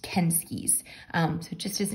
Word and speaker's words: Kensuke: looks like it's spelled kinsuki's Kingdom but um this is actually a Japanese name and we looked it up and it's actually pronounced kenskies um so it just